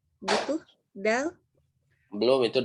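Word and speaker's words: دال: Nah, ujung lidahnya itu ke tengah-tengah ini. Dal, seperti itu ya. So, aku ulangi. Dal, gitu, dal.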